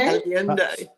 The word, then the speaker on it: Allende: And San Miguel de, how do you say, Allende? Allende. San Miguel de Allende.